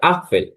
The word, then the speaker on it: Apfel: যেমন এখানে একটি এফেল দেওয়া আছে যেটা আমরা ইংলিশে বলি এফেল কিন্তু জার্মানিতে হবে এটা আফেল ইংলিশ এ আর জার্মান আ দুটোই কিন্তু দেখতে সেম কিন্তু তাদের উচ্চারণগত দিক থেকে সম্পূর্ণ আলাদা যদি আমি একটা সেন্টেন্স